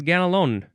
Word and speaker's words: Ganelon: It is ganalon. Now, you don't really say the n so much. Ganalon.